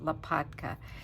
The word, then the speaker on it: Lapatka: It's Lapatka. And it's, you know, it sounds just like it's pronounced just like it's spelled.